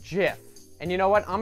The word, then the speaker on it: GIF: Theo Jo is going to lay down some righteous knowledge on you it's jiff it's pronounced jiff and you know what